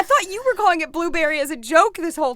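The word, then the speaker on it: Blubrry: up going with is we call it blubbery because it's spelled like b l u b r r y but it is actually I think blueberry um I always no I thought it was blubbery well it's spelled blubbery it's spelled it's called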